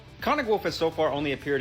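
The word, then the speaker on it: Konig Wolf: the 053 conic wolf it's technically pronounced conic wolf you're supposed to get real throaty in German with it the conic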